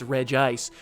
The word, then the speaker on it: Regice: do that all right Reed ice properly pronounced Red Ice the iceberg Pokemon look